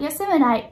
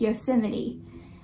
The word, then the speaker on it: Yosemite: learned that there is a way to pronounce the word Yosemite not yes in the night Yosemite but making mistakes is